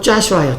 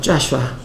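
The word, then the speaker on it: Joshua: 여호수아는 이스라엘 말로 발음이 어떻게 되죠? 여호수아는 영어로 짜슈아예요. 짜슈아.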